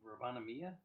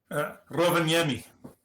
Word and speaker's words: Rovaniemi: Like, probably not pronouncing the city name correctly, but to me, I always say Rovaniemi. Rovaniemi.